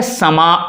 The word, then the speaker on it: समा: अब यह है समा, समा, समा, लास्ट में अ का उच्चारण होता है।